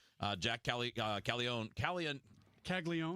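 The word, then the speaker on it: Caglianone: Calon Kagleon. Kagleon. I never say it the way that it's spelled because there's an extra N in there that never gets pronounced. It's Kagleon.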